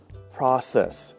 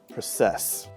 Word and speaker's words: process: However, the syllable stress should be on the first syllable, process, not process.